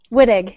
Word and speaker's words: Wittig: It's Wittig? Wittig, yeah. Wittig. It sounds just like it's spelled.